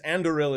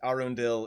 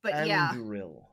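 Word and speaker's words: Andúril: Anduril is correct. Arundel is my mispronunciation of it, which I did for several episodes. So like, I'm not worried about it. That's the one I remembered. But Anduril.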